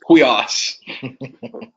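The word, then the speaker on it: υἱός: It's huios.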